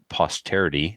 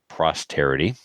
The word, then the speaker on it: posterity: It's pronounced posterity, not prosterity.